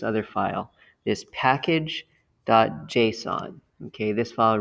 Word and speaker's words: JSON: and by the way json json like the name json is how it's usually pronounced that stands for javascript